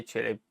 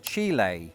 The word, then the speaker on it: Chile: I'd say Chile. And inexplicably, I and quite a lot of people in Britain were a gasast at the typical American pronunciation, which is Chile.